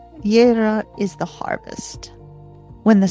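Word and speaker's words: Jera: Then we have Yera. Spelled J E R A, Yera is the harvest.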